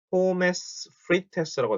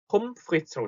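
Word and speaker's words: Pommes frites: 포메스 프리테스라고 되어 있네요. 포메스 프리테스. 자, 이걸 정확하게 읽으면 폼프리츠라고 씁니다. 폼프리츠. 포메스라고 써있는데 뒤에 발음 전혀 안 나고 폼프리츠. ES라고 써있죠? ES도 그냥 S. 폼프리츠 이렇게 발음이 됩니다.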